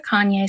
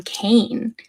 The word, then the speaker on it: Kanye: I have never heard a Kanye song. I used to pronounce his name Kane because I'm a little dyslexic and that's how I read it.